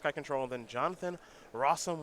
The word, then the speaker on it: Rosum: control and then jonathan rossum which rhymes with awesome playing white black aggro